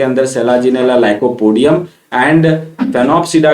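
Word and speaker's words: Sphenopsida: तीसरा जो होता है इट इज स्नोप्सिडा, इसमें आपको एस साइलेंट है तो फिनोप्सिडा बोलेंगे।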